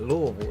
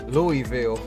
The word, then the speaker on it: Louisville: play nice we he says uh s is silent louisville no it's louisville bro but uh if it